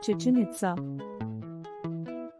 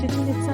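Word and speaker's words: Chichén Itzá: The name is spelled Chichen Itza in Spanish, and the accents are sometimes maintained in other languages to show that both parts of the name are stressed on their final syllable.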